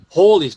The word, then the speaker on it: Halley: But otherwise, Halley, it's spelled Halley but pronounced Hawley according to the diarist.